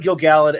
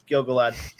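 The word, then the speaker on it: Gil-galad: shots of gilgalad i i i keep saying gilgallid and then correcting myself to gilgalad i believe it is pronounced gilgalad um because we have this one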